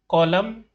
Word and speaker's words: column: In the words given below, the letter N is silent when it appears with M at the end of the word. Hymn, column, autumn, solemn.